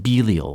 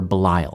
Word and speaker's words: Belial: The video suggests that Belial, or Belial, I've heard it pronounced both ways, is a name for